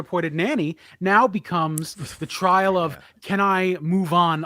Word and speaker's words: Triet: actually think that uh the tri is how we say it right is you say Justin Tri okay she did a